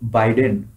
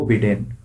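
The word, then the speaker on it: Biden: हार चुके हैं, और जो बाइडेन या जिन्हें आप लोग उच्चारण करके कह देते हैं जो बिडेन, ये सत्ता में आ चुके हैं।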